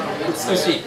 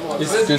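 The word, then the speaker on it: 美しい: Utsukushi. Utsukushi.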